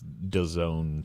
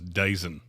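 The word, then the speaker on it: DAZN: going to be on the Doone is that how that's pronounced yeah it's Doone Sports I always thought it was daison because I'd have to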